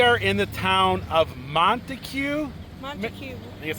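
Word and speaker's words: Montague: back roads we are in the town of montue Mont I that's how you say it and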